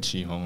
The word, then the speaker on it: 啟宏: So, like, it pronounced like Chi Hong, right?